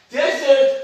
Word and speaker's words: desert: But as a verb, you should say the stress falls on the second syllable, and it is a verb.